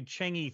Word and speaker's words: Chang'e: When China sent up the Chang'e 3 or the Chang 3, depending on how you want to pronounce it, those photos were just like NASA.